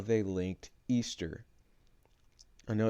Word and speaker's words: Ishtar: It says, this is Ishtar, pronounced Easter.